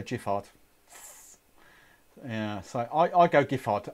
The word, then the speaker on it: Giffard: Trevor, oh, we're going back to the Giffard. Hard G. Right, so I'm a big fan of Giffard. I say Giffard. If that's what you're calling a hard G, that is what I'm going with.